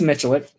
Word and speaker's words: Michalik: How do they pronounce their last name? It's Michalik. Michalik. Yeah. Okay, cool. So cool. Not bad. You did right.